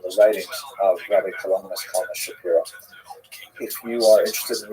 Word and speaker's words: Shapiro: By the way, Rabbi Shapiro is uh is the common English transliteration of his name, although it really would have pron been pronounced Shapiro in Poland.